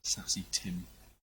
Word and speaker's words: Saesee Tiin: It looks like it's Saesee Tiin. No idea if I'm pronouncing it properly. Oh, it's pronounced right. Had someone talking about it earlier. I thought they said Saesee Tiin.